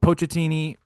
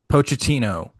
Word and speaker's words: Pochettino: There were some qualms with, you know, Pochettini and his squad. I I always say his name wrong. Pochettino.